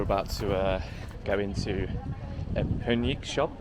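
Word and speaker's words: Perník: So now we're about to go into a Punik shop. I think it's pronounced Punik, which is, I think, well, it's Czech for gingerbread.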